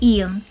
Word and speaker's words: 이응: The next one is 이음. It has a special feature. As an initial, it doesn't have any sound value, meaning you don't pronounce this one when it is in the initial position.